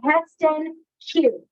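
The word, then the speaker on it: Hestan Cue: My hob is a smart hob, and it's by Heston Q, C-U-E. So it's H-E-S-T-A-N Q, C-U-E.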